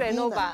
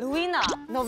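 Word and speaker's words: Novena: 就是，哎，OK，怎么读哦？不是 Lenovo，但是 Novina，对，Novina，对，OK，这个其实就是 Income Tax 的 Building，对不对？OK，好，来第六张照片谁家？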